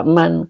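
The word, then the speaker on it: من: Jadi untuk membaca eman atau min lihat depan. Kalau depannya dibaca fi'il maka min. Eh dibaca fi'il maka man. Kalau dibaca isim baru min. Karena huruf C ketemunya isim ya. Oke. Jadi ini dibacanya man. Kenapa? Karena depannya fi'il.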